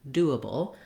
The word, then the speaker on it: doable: we change to doable even though we have the words able or the same letters as able in here we don't say able any longer in doable that's because we have first syllable stress and then then the uh and bull syllables are short and reduced so the the do